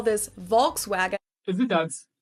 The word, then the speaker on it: Volkswagen: But even if we did go by the full name, it would be pronounced Volkswagen and not Volkswagen. So just imagine that it was spelled with an F and V instead. Volkswagen.